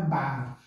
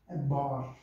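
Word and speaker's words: بار: Não é bar, é bor. Ok?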